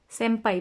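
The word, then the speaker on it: 先輩: सेम्पाई पर प से पहले ना आ गया, प से पहले ना आ गया तो इसको बोलते हुए सेम्पाई बोलते हैं।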